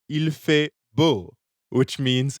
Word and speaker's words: beau: So I could say, Paul est beau. Ah, merci Estelle. Oui, je suis beau. Beau rhymes with chaud.